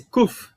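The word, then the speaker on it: קוף: Esse Kuf não é o P. É o som do Q.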